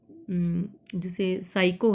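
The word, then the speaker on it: psycho: जबकि इंग्लिश में जैसे साइको है तो उसमें P साइलेंट है, जैसे नी है KNE,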